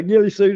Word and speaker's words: ghillie suit: Bigfoot is a gray in a ghillie suit. If I pronounced that right, you never know. Yeah, Gilly Suit is right.